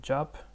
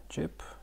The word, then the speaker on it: 집: So jip, I'm sorry, not job, but jip, sorry, jip, home.